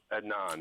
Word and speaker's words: Adnan: was afraid of uh admon I guess is how you say his name I don't know Adan Adnan that's it Josh says Jay actually